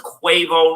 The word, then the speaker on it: Quavo: and I know earlier I was saying the name wrong quavo I know it's quavo now okay his birth name